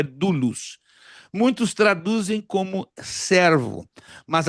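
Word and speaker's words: doulos: E agora ele, Paulo, usa uma palavra no grego, dulus. D O U L O S, que a pronúncia no grego é dulus.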